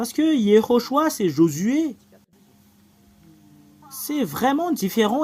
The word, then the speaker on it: Yehoshua: Alors, le fait de prononcer ce terme, c'est Yehoshua. Le voilà.